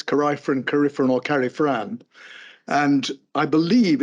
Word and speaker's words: Carrifran: of ravens so I suppose a more correct pronunciation is Carrie Fran but somehow we've always said carifeford which is what the local farmers say anyway